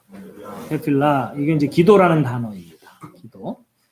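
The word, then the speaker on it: תפילה: 그래서 발음을 일단 예, 테필라 이게 이제 기도라는 단어입니다.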